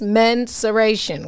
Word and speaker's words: mensuration: that's another word though there's another word that sounds like that that people do say wrong too pronounce mensuration okay this word has its origins in latin it means measuring okay so yeah so